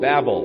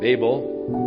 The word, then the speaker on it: Babel: Therefore its name was called Babel, or Babel, whichever pronunciation you prefer.